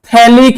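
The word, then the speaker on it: phthalic: আর এই মলিকিউলটার নাম হচ্ছে থ্যালিক এানহাইড্রাইড। এবার থ্যালিক এনহাইড্রাইডের বানানে আবার একটা পিএইচ আছে যেটা এখানে সাইলেন্ট থাকে তাহলে থ্যালিক এনহাইড্রাইড মলিকিউলে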